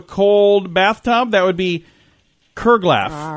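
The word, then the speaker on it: curglaff: and today's word is curlgaff. Curlgaff. C-U-R-L-G-A. I'm going to try that again. C-U-R-G-L-A-F-F. Kurglaff. I think I said it wrong the first 3 or 4 times. I think you did, yeah. Kurglaff.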